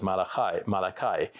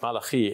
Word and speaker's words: Malachi: English speakers often pronounce it as Malachi, but Malachi in the Hebrew.